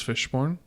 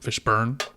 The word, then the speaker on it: Fishburne: 1995 othello with lawrence fishborn um fishburn fishborn yep i always used to say it like that and it's kind of